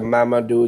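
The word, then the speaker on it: Mamadou: Madu. I'm going to spell it for everybody.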